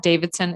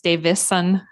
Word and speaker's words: Davison: Milan yes it's Davison there's no D in it it's not Davidson it's Davison Davidson okay all right